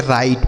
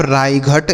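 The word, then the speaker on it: right: ये देखिए इसका सही उच्चारण हो गया। राइट पढ़ना है। अगर इसे आप रायघट इस तरीके से पढ़ते तो गलत हो जाता कि नहीं?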